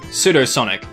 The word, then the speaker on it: Pseudo-Sonic: Namely, Pseudo-Sonic, and it's funny because the P is silent.